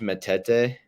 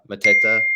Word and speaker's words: Mateta: I just I don't know what they need to do to maybe reach levels like I actually watched Matete. Mateta, is that how you say it?